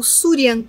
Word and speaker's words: Shuryan: então con C normalmente a o surian on se escreve sh u fazendo su r y a n surian e depois o mantra